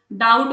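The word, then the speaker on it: doubt: जैसे मैं ऑनेस्ट बोल रही हूं तो एच इज़ साइलेंट। डाउट में हम उसको डाउट नहीं बोलते।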